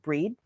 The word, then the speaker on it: Brigid: feel the energy of goddess uh brigid coming in or i think technically her name is pronounced breed uh but i'll say bridget so people know what i'm talking about bridgette so i feel